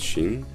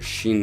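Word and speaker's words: שׁ: like e like this so this is shin and also here you put the dot on the right side when you have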